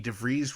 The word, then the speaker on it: DeVries: as eddie schmidt vicky devries rhymes with cheese joe jaffa jake larson